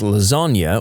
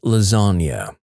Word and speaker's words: lasagna: I would intentionally mispronounce lasagna all the time in front of my brother, pronouncing it lasagn. He'd correct me every time, then eventually gave up. Then one day, he says, "You want lasagn?" To which I reply, "It's pronounced lasagna.